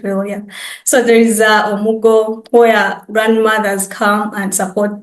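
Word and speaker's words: omugwo: If you're far away from home, I know the Nigerians, there is Omuko. Yes, I'll pronounce it well, yeah. So there is Omugo, where grandmothers come and support their daughters to around the house when they've just given birth.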